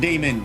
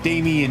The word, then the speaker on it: Damian: This Damian Carter, not Damon, Damian.